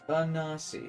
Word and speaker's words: Anansi: He's pronounced Anasi.